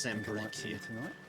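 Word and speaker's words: Sanbreque: Been pronounced Sembrequois.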